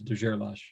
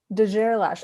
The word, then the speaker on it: de Gerlache: guerrilla straight but i've i heard from his family that uh most people pronounce it wrong so it's de gerlache de gerlash okay so you know